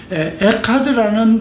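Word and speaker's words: אחד: 에카드라고도 하고 그냥 에아드라고도 이렇게 발음을 해요.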